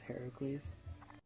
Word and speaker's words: Heracles: Yeah, it's pronounced Heracles. Did you know that? Did you know Hercules is pronounced Heracles? Hercules is the Roman name for Heracles.